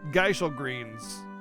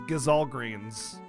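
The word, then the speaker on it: Gysahl Greens: geisha greens sorry you probably think they're pronounced geisha greens right most people do read that again there is no sh it's gazalgreens it's always been gazalgreens ever since day one it's spelled that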